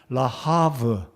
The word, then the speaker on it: 라하브: 한번 말씀을 드려 보겠습니다 라베 이름은 히브리어 발음으로는 정확하게 말씀드리면 라하브 라하브가 되겠습니다이 라하브라는이 히브리어의 의미는 굉장히